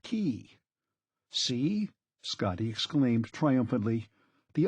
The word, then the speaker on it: cay: at least pronounce it correctly Scotty K is pronounced key see Scotty exclaimed triumphantly the only place where